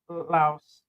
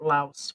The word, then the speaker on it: Laos: They call it Laos or Lio. Okay, so the S is silent. Okay. Yeah, I just kept maybe it was just the news people that kept calling it Laos with the S.